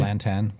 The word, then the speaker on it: Lantan: Lantan, am I saying it right? Lantan, that's how I say it.